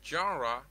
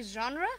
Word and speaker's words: genre: january no it's a genre yeah okay yeah it's actually genre uh it's not gendry neither uh jenner okay it's actually genre